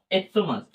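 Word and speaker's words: stomach: যেমন এক্টোমাস, এইচ টি ও এম এ, ঠিক আছে। এক্টোমাস, এক্টোমাসে কি বলছে? চ যদি উচ্চারণ না হয়, সি এর উচ্চারণ যদি চ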